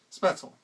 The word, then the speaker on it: Spoetzl: His name was Kosmos Spoetzl. I'll assume it's like my last name where the O and the E is pronounced like an E.